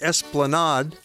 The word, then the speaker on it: Esplanade: In English, it's pronounced Esplanade.